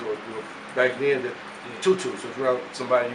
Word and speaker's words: Tutu: Because on the streets they call me Tutu. That's my nickname. Tutu. Like my 30, 40 year niggas, or you know, back then, Tutu.